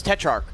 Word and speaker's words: Tetrarch: It's Tetrarch.